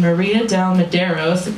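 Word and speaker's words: Maria de Medeiros: legs watching Fred Ward and Uma Thurman and Maria Del Maderos that's how you pronounce her name kiss and grope and [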